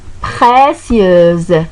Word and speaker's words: précieuse: Source précieuse. Donc, S ici, donc, elle est donc prononcée en Z. Pourquoi? Parce qu'il y a voyelle avant et voyelle après. Il y a le U et le E.